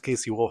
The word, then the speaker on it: KC Wolf: His name is Casey Wolf.